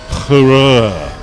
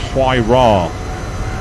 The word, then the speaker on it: Huayra: It took them forever to move on to the Hurrah, as it was first thought it was pronounced. It's actually pronounced Huayra, but everyone thought it was called the Hurrah and made jokes it